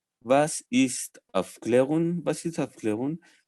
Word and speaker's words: was: it' que es más se escribe como was w a ese no pero de doble use pronunciar v entonces vas issste of leon básica